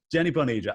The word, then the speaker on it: Jenny Boneva: So, Jenny, it's Jenny Boneva, yes? Am I pronouncing this correctly? Yes, perfectly. Jenny Boneva.